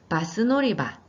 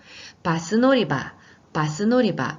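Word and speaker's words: バス乗り場: 네, 제가 지금 발음을 길게 했는데 그렇게 하지 않고 바스 노리바. 네, 짧게 해주시면 됩니다. 강조하려고 하다 보니까 발음이 길게 됐네요. 바스 노리바 이렇게 표현해 주시고요.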